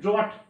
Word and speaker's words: drought: এবার দেখো DROUGHT, এখানে যখন দেখবে টি এর আগে GHT আছে অথবা GHT যদি থাকে, আর এখানে DROUGHT যদি থাকে, ওইটার উচ্চারণ হবে না অ্যাকচুয়ালি, বিশেষ করে ওই GHT না, টি এর আগে যদি GH থাকে, GH এর উচ্চারণ হয় না, সেটা সাইলেন্ট মোডে থাকে, মানে সাইলেন্ট থাকে, পুরোপুরি ভাবে চুপচাপ নিষ্ক্রিয় মতো থাকে, কিন্তু